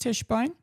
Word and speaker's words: Tischbein: Peter said, it's pronounced Tischbein. It rhymes with fish wine.